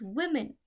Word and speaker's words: women: We pronounce it as women, but we spell it as WOMEN.